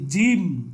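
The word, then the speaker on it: ج: এই জিম খুব শক্তভাবে জিমটাকে আপনাকে উচ্চারণ করতে হবে।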